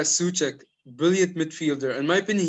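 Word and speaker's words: Souček: they're midfielders so check am i pronouncing it right suck yeah that's right yeah suck brilliant midfielder in my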